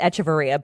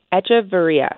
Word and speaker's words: Echeverria: Well, I've always pronounced it Echeverria, but, you know, my dad has a little heavier of an accent, so it's a little different. I like it. Echeverria. Like Etch-a-Sketch.